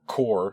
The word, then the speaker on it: Kore: So Kore, or Core, as I pronounce it, because it's Kore.